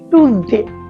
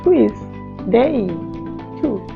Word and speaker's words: Tuesday: আমরা বলি টুসডে না, এখন থেকে আমরা বলবো টুইসডে।